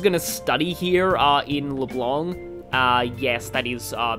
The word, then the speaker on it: Leblanc: yeah it's like um the pronunciation of the name like the c is kind of silent i'm trying to pronounce